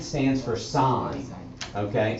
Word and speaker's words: sin: evil okay so s i n stands for sine okay sine c o s stands for cosine so opposite